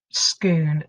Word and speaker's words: Scone: next in line and has gone off to Scoon to be crowned now I know that looks